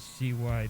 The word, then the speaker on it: Cybele: is Sabazius, Sabazius, and then Cybele, which is Cybele.